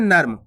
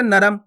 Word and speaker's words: नर्म: और शब्द लिखते हैं नर्म क्या लिखेंगे नर्म अब नर्म के अंदर देखो क्लर पता पड़ा अपन बोलते नरम तो अलग शब्द हो जाता और नर्म जल्दी से उच्चारण हो रहा है य पे नर्म तो